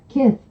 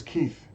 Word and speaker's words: Kith: I could easily find out how that's pronounced, but I choose not to, but I'm going to anyway. Kith. Kith. Why would I think it was Keith?